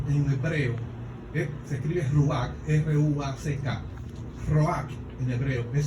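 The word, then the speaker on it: רוח: Roach en hebreo, se escribe Ruach, R-U-A-C-K.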